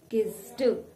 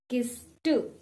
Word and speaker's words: kissed: word k-i-s-s-e-d well a lot of you might pronounce it with kiss too the ending of the word sound says do but this is not a correct pronunciation the correct pronunciation is kiss 2 please repeat after me it is not kiss